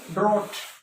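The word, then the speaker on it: drought: फिर ड्रॉट सूखा जो होता है, ड्रॉट एच नहीं, मीन्स है साउंड नहीं है का मतलब है, एच का मतलब है साउंड नहीं, और स्पेलिंग लिख रहे हो आप।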